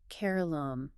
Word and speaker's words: Keralam: Yes, the Union Cabinet officially approved renaming the state of Kerala to Keralam. Keralam. Yes, it is a move to culturally align the English spelling with the actual Malayalam pronunciation.